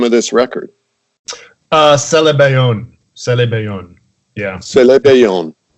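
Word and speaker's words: Sélébéyone: Celebayon. Yeah. Celebayon. That's a word in Wolof that's kind of written out in French, and I don't know. Yeah, it means the term Celebayon means intersection in Wolof,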